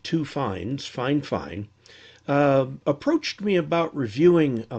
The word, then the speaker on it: Fifine: a company from china that's spelled f i f i n e but pronounced fine fine like two fines fine fine approached me about reviewing